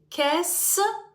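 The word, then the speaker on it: qu'est-ce: форма так так само по вимові кес так кес в кінці ми не читаємо тут вже ви знаєте що дві літери дивтонг дають СК с с в кінці не читається також вже говорила запам'ятовуйте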